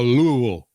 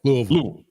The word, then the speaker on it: Louisville: I was always told you got to say it like you have marbles in your mouth. So Louisville. Yeah, Louisville.